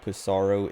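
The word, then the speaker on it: Psaro: looking it to who pisaro is but it is pronounced pisaro cuz it's like it's supposed to be like pizaro or something but the localization didn't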